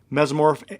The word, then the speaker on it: mesomorph: Mesomorph is MESA. No. MESO. There you go. MESO. MORPH. MESO.